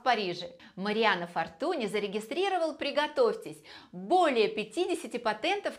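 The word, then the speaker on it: Fortuny: и еще не забывайте что правильно произносить именно Фортуне потому что это испанская фамилия художник был похоронен на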